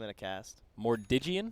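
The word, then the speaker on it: Armlet of Mordiggian: Mordigian? I thought it was Mordigan when I started playing, but I also don't really play a lot of Armlet heroes.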